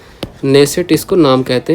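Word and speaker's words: Knesset: संसद का नाम है नेसेट इसको नाम कहते हैं। क्या है? इसकी स्पेलिंग भी अलग है, ठीक है, के साइलेंट रहता है, बाकी ऐसे है, ठीक है।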